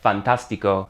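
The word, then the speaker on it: fantástico: Change the ic to ico and you get fantastico. The accent is on the a again.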